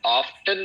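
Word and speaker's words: often: मतलब कितनी बार और इसको ऑफन भी प्रोनाउंस करते हैं, ऑफन भी प्रोनाउंस करते हैं। लेकिन मेरी सलाह है कि आप खुदा इसको ऑफन प्रोनाउंस किया करें।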